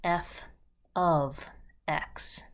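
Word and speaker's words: f(x): f parentheses x is f of x and we say of to remind us that f is a process that we're about to apply to an input value for instance i'm going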